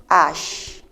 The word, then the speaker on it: H: a completely new territory H we say it like ash right Ash that is H the French